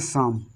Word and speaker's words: psalm: अब इसको क्या पढ़ना है, शाम। ना तो पी को पढ़ रहे हैं और ना ही एल को।